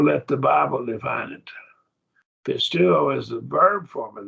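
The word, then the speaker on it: πιστεύω: So it's pronounced pisteuo.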